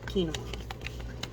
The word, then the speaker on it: quinoa: I looked it up and learned how to pronounce it quinoa so it says run cold water over quinoa